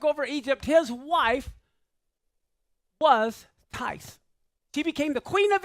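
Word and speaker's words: Thais: this is a lady her name is TI that's her name that's how it's spelled t h a i s see that that's her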